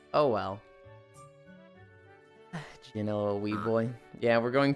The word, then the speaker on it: Jyn: But I was thinking of the the hard G sound in that and then I said it wrong and I immediately was like that's not how you say that word. Oh well Jin weed boy.